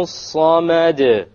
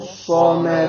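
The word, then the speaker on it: الصَّمَد: The sad is a solar letter, which means we drop the lam when we have the alif lam there.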